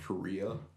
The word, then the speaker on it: Correia: different moniker back then I had uh pronounced Korea and it's like a play on my last name and then I had